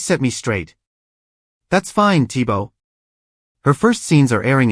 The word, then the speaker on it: Thibault: name is spelled the same way, and she pronounces it Thibaud like in the German way. I always thought it was that way. You guys set me straight. That's fine, Thibault.